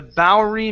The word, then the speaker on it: Bowery: The Bowery mission.